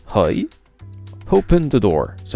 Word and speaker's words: hoi: le comprendre des bribes aille se prononce roj open doors se prononcent